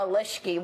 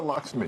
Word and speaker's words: Lakshmi: I don't need Padma Leshki, whatever beautiful girl she is. Yeah. I don't need her telling me what to do. I don't know, how do you say her name? Padma Lakshmi.